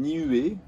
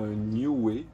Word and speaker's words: Niue: le monde de l'autisme ce nom c'est une nuée ou new et ça dépend comment on le prononce on peut le prononcé plusieurs manières donc c'est le nom d'une île dans le pacifique en fait qu'ils se prononcent localement new way esneu est donc en